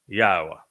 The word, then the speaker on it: Yahowah: So I have told you emphatically that God has but one name, and it is pronounced Yahowah.